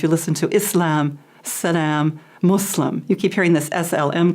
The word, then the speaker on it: Muslim: we have so many different pronunciations, but the most correct is Islam and Muslim.